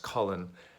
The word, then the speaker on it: Colin: I realize some people pronounce that differently. Where I'm from, this name is pronounced Colin.